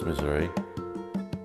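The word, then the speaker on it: Misuri: Louis, Missouri. Right now I'm exposing my body of work titled Missouri. Spelled M-I-S-U-R-I because it's the way I pronounce it as a Spanish speaker.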